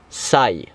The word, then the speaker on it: Psy: Le fait que ce signe soit bleu ne prévoit rien de bon, d'autant plus que Psy peut se prononcer sai.